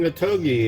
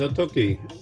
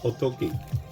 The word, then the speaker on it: Otoki: your day, you might notice it's not saying Otogi, it says Otoki, and that's closer to the way it's actually pronounced, like Otoki.